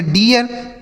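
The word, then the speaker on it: dear: आर से र यह पढ़ा जाएगा beer D ई ए आर तो डी से ड इ ए का उच्चारण ई आर से र यह लिखा है डियर समझ में आया यह होगा इसका सही उच्चारण इसे पढ़ेंगे डियर पी ई ए आर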